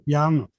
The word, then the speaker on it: pia: Bene, Allora, al prim pia, pia con l'accento sulla A finale, sì.